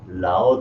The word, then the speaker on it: 老: 你不是老师, L-A-O, third tone. 老 there meaning old.